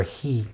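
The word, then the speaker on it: הוא: because he was barren, who, the way it's written, or he, the way it's pronounced, because they were barren, vayeta Yitzchak, that Yitzchak prayed l'noichach against his wife.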